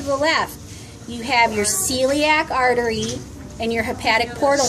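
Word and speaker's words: coeliac: That's called the celiac artery, and it's spelled C-O-E-L-I-A-C, celiac artery.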